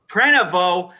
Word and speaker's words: Prenevost: that what we're seeing prenavo which is not how it's spelt it's not how it's spelled that's why it's confusing